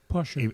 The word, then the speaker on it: Porsche: Porsche that if uh if I hear you pronounce Porsha correctly pora immediately I say oh